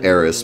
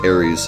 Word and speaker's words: Aeris: Although I had to make the change to Aeris because Aries is just like totally wrong.